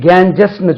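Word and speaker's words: Ganges: the river KGs right the Holi river கேஞ்சிஸ் அது கேஞ்சஸ் கிடையாது இது இந்த வேர்டு தான்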